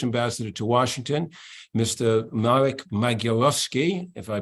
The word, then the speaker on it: Magierowski: Marek Magierowski, if I pronounce it correctly.